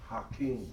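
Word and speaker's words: حكيم: Hakim. Hakim. Pronounce it again. Hakim. Hakim. Right. Hakim. Okay. If you pronounce it as a ha, listen. Hakim. Hakim. You see the difference?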